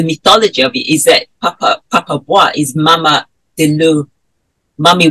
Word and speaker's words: Papa Bois: I can't pronounce this. Yeah, Papa Bois.